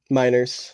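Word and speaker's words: Meinerz: out to be a pretty decent Center Quinn Miners miners yep I don't know how to I didn't know how to pronounce his last name minors he's out this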